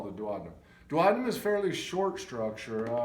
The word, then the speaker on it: duodenum: and that is the duodenum. I've also heard other professionals pronounce it duodenum, but I think both pronunciations are acceptable.